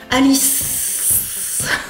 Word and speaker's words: Alice: Pour Alice c'est un peu comme pour Adèle, ça se termine muet en fait, il n'y a pas de voyelle. Alice. Le E ne se prononce pas.